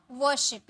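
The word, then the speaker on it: worship: बाल्टी means bucket पूजा वरशिप यहां भी आर साइलेंट होता है वरशिप वरशिप ठीक है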